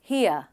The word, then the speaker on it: here: इसका correct pronunciation कुछ इस तरीके से है, here. That's right, यहाँ पर R का pronunciation नहीं है, here.